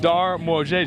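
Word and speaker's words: Dar Młodzieży: That's the Darmojeju. I've been practicing that, and I think I got close. Darmojeju. Am I getting it? Okay. Darmojeju. Okay, he's saying it right.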